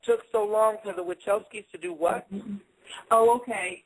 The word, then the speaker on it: Wachowski: You did mention that, and I hope I'm pronouncing it correctly, the Wachowski brothers. Was that their name? The solar name? Yeah, that's their name. Well, yeah, okay. Andy and Larry Wachowski.